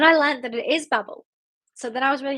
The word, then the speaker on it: Babel: And then I learned that it is Babel.